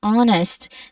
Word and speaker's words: honest: The h at the beginning is silent. We say honest, not honest. Okay? We do not say hest like there's a push of air at the beginning. We do not want that. We just say honest, a silent letter h.